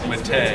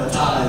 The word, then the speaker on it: Matei: Yeah, it's one of those things where, like, it's correctly pronounced Matei, but it's one of those names where as many people say it one way as the other, you know, so it's kind of weird.